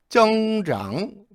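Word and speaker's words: 增长: 조심하시면 돼요 비문장 뭐죠 단어 정장 조심하세요 창이라고 안 읽어요 늘어나다 증가하다 다시 한번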